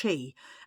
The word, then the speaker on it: Qi: word in tournament Scrabble it's pronounced Chi and means life force or energy in Mandarin Chi I've heard of